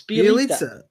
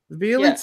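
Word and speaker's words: Bjelica: a ton of leagues, Bielitsa. It's pretty close. You got this one. It rhymes with pizza. It's Bielitsa. Bielitsa.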